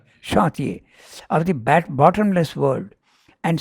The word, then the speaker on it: chantier: left in the chantier, this word has to be pronounced in the French way, you are right, chantier, of the bottomless world, and stolen by the robbers of the deep.